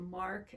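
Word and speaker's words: marc: press it out is the mark the mark m-a-r-c it's spelled that is the the solid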